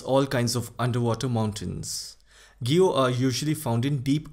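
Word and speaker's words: guyot: minor ocean relief features gyo now this term is pronounced as Gyo Gyo is an undersea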